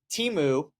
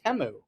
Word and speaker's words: Temu: here calls it teu on the commercials it was temu so it's a it's a short e instead of a long e temu they were the most